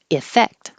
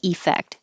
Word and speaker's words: effect: The E is not stressed, so it changes to I or You will hear people say effect, and that's little over